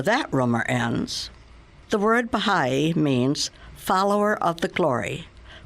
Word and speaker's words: Baha'i: rumor ends the word Baha'i means follower of the glory Baha means glory or splendor the I pronounced e means follower of so when properly pronounced it is Baha'i we are the followers